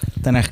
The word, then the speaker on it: Tanaj: Tanaj, K y H. He escuchado que que algunos le dicen Tanaj. Porque porque lo escriben mal, porque escriben CH, pero en realidad es KH y la KH en